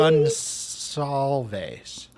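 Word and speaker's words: Gonçalves: Gonsalves. Gonsalves. Yeah. I pronounced it Gonsalves. right. Okay, good. Hey, Ms. Potash, thank you. C has an S in Gonsalves.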